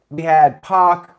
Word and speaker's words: Pac: Oofman Rule says it's Pac like Pac-Man, but I thought it was Pac like X-Pac.